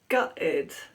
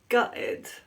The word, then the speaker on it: gutted: the pronunciation is that native speakers often glottalize the T that means that they pronounce it as a glottal stop a glottal stop is